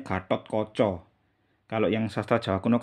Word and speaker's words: Gatot Koco: Nah, Gatot Koco. Kalau sastra Jawa baru bacanya Gatot Koco.